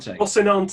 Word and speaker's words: Rocinante: How do you pronounce this ship? The Rocinante.